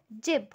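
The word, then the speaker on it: 집: सो इसको हम किस तरीके से प्रोनाउंस करेंगे, एज ज। जैसे कि हमारे पास एक वर्ड है जिब, जिब।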